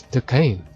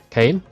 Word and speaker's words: Duquesne: That's Duquesne. How do you say his name? Kane? Let's say it Kane.